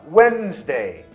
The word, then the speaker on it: Wednesday: Então, nesse caso, não é a etimologia, e sim o posicionamento, a articulação quando você pronuncia a palavra. Simplesmente a gente engole o som. Handsome. Handsome. E a palavra Wednesday, quarta-feira.